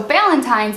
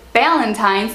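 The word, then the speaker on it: Ballantine's: So Ballantines is a type of whiskey, but they don't pronounce it Ballantines, they say Ballantines, and I had no idea what he was saying.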